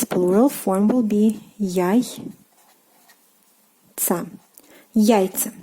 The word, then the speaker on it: яйца: Яйцо, meaning egg, and its plural form will be яйца. Яйца. So here again, the stress changes to the first syllable, яйцо, but яйца.